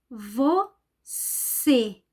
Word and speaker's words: você: Como eu posso saber que esse E é fechado? Nesse caso, é uma palavra que tem um acento circunflexo, esse acento aqui.